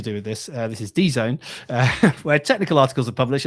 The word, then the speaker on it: DZone: Uh staying with the subject of lambda uh this is uh an article uh on Done I think it's pronounced uh which is a DZone I think.